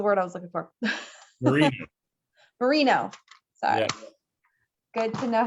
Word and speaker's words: Merino: I touched it with a little bit of the watercolor, the Muranos. That was the word I was looking for. Merino.